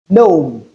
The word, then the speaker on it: gnome: However, there are some words with letter G and the letter G is silent because we can't realize them in those words. And a typical example of them are gnome, fine, nash.